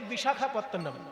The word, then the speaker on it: বিশাখাপত্তনম: ইংরেজরা অত কঠিন নাম উচ্চারণ করতে পারতো না বলে তারা নাম দিয়েছিল ভাইজাগ। ওজন্য সবাই এখন ভাইজাগ। ইংরেজদের শেখানো নাম ভাইজাগ আসলে ভাইজাগ তো নয় কথাটা বিশাখাতনাম বিশাখা বিশাখা নয় আকার হবে না শুধু খ এবার যেহেতু সাউথ ইন্ডিয়ায়